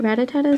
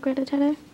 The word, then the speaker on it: Rattata: I've always called it Rattata, so that's what I'm going to start saying. Because trying to pronounce it, it doesn't really look like Rattata. Rattata. Yeah, I'm adding like an extra TA at the end.